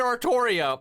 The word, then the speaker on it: Artoria: artoria that's the thing they're always like guys it's ultria except it's literally always said artoria also there's official merchandise